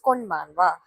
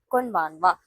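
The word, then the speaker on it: こんばんは: Good evening greeting in Japanese is konbanwa. Konbanwa. This letter is ha, but On greeting, we can say this as wa.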